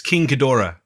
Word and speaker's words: Ghidorah: Ghidorah. What's that? It's King Ghidorah. I believe that's how they say it.